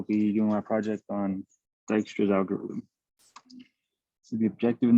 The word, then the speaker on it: Dijkstra's: Dijkstra's algorithm, pronounced Dijkstra's, was created by Dutch computer scientist Edgar W.